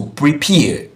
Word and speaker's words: prepare: We are supposed to have the stress in peer. So prepare, prepare, prepare.